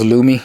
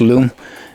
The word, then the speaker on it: Lume: and it is pronounced loom i looked it up i was on this company's website it's i thought it was lumi it's a loom it's pronounced loom as in l-o-o-m and not lumi so let us first